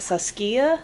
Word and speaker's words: Saskia: pronouncing this this wrong is it Saskia Saskia Saskia Saskia I guess that's how most people pronounce saskia but this kit looks